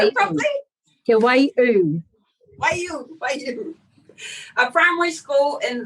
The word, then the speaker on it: Te Waiū: Did I pronounce it properly? Te Waiū.